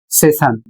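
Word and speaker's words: session: अगला शब्द है एस E double S आई ओ एन और इसे पढ़ा जाएगा सेशन और इसका अर्थ होता है सत्य।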